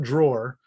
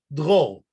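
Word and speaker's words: Dror: And as some of you are probably trying to pronounce right now, the correct pronunciation is not drawer, it's drôle.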